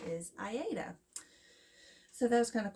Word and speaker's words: Aida: It's Aida is how you pronounce it. A lot of people say Aida, which is fine, to each his own.